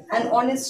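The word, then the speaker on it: honest: तो यहां पे क्या है, ये जो एच है ना, हमारा साइलेंट हो जाता है और साइलेंट होने के कारण यहाँ पे ओ जो है वहां उस पर डायरेक्ट हम लोग मतलब सिंथेसाइज करते हैं, ठीक है? तो आर हो गया और ऑनेस्ट हो गया, ओ पर डायरेक्ट हमारा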